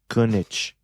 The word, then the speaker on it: Koenig: Koenig.